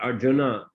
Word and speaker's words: Arjuna: Arjun Arjun um not Arjuna Arjun uh of course in a written form in sanskrit's Arjuna but in uh Bengali they often dropped this last a um so yeah um